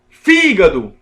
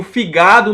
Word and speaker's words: fígado: Fígado. Eu não digo figado nem figadó. Não, é fígado. É na antepenúltima sílaba.